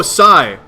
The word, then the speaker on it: Psi: How is this pronounced? Dawn's intent? Oh, Psi. Oh, that symbol is Psi.